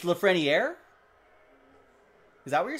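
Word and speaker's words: Lafrenière: nice for king wait you pronounced the r in lafret what have i been saying it's lafreniere is that what you're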